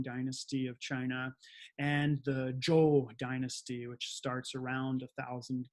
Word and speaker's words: Zhou: Zhou is spelled Z-H-O-U, but we pronounce it Zhou, just like, kind of like the name.